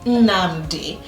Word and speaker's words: Nnamdi: And then my parents gave him a middle name which is pronounced as Nnamdi, which means my God is around.